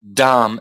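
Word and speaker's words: dhama: you don't pronounce the you don't pronounce the last a so you've got Dam that is Adam okay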